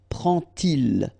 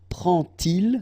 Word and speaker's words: prend-il: to show you that you won't pronounce it like d to make the liaison, but you will pronounce it like t. And so you will get prend-il, okay?